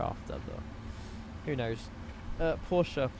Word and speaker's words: Porsche: Porsche is announced with two syllables. Porsche. Porsche.